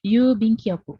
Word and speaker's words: yubin kyoku: Jadi yu-nya Ada panjang ya. Kenapa? itu bing gitu ya, Bu ya. Kenapa? Bing atau bin gitu. Bing bacanya. Bing. Tulisannya memang bin, tapi dibacanya bing.